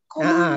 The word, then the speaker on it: comment: Kalau bahasa Indonesia itu bacanya tapi apa tadi ya? Ada N-nya kan? Komong gitu. Komong. Ya, betul.